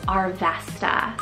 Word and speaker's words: Arvesta: Queenie coming back another unique one here is arvesta spell a r v s a arvesta like